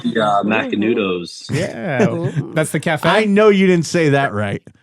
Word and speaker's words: Macanudo: Like Macanudos.